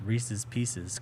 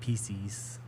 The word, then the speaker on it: Reese's Pieces: Maybe this will have people pronounce Reese's Pieces correctly and not PCs.